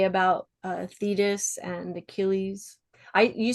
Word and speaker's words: Thetis: Was there anything else that you wanted to like bring up or say about Thetis and Achilles? You say Thetis, I say Thetis. I feel like American and English pronunciation, particularly on classical words, is notoriously yeah,